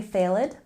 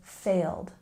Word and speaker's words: failed: again exam and here even though there's an ed ending we don't say failed we say failed one syllable failed and the last linking